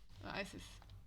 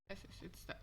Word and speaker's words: Isis: Isis. Isis. That's how you pronounce the name.